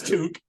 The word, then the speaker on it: toque: Canada so I know I know it's toque I know everybody says to right well everybody in in America usually yeah yeah if you don't have Canadian friends you you probably pronounce it that way or if you if